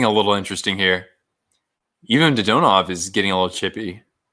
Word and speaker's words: Dadonov: So in the Russian language, usually the emphasis is on the second syllable. So even though in our tongue, we would naturally say something like Dadonov, in the Russian language, it's Dodonov.